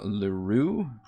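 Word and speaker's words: Lurue: That was Lore of Lurure. That's how you pronounce it.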